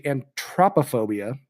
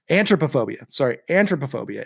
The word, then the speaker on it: anthropophobia: But our phobia for today is, I listened to a pronunciation of it. It's actually Anthropophobia. Anthropophobia.